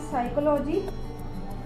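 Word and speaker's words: psychology: अगर P जो है वो N और S से पहले आएगा, अगर जो P है, P जो लेटर है हमारा वो N या S से पहले आएगा तो हमारा P जो है वो यहाँ पे साइलेंट हो जाएगा। फॉर एग्जाम्पल अगर हम ले तो हम यहाँ पे लिख सकते हैं साइकोलॉजी। अगर हम इसको पढ़ेंगे तो इसको हम पढ़ेंगे साइकोलॉजी, ना कि साइकोलॉजी, साइकोलॉजी।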